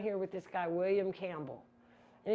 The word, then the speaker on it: Campbell: And then I was a little perplexed by why is Eliza down here with this guy, William Campbell? And it's spelled camel, but it's Campbell, like the soup.